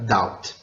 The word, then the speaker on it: doubt: O vídeo mostrou muito rapidamente os sons não pronunciados na língua inglesa, como o som mudo do B na palavra doubt. Além desses sons mudos, devemos